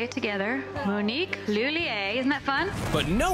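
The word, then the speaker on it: Lhuillier: Monique Lilier. Monique Lilier. Right. It's Monique Lulier. Lier. Yeah. Yeah. Yeah. Close enough. Close enough. Let's all say it together. Monnique Lulier.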